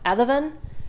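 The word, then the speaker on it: Adomnán: is a book um I believe it's pronounced Adan um because he's Irish Adan aiona and the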